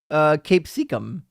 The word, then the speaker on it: Capsicum: I've got the wiki page pulled up with the pronunciation instructions, and it says Cape Secum. Really? That's what it says. It should be pronounced Cape Secum.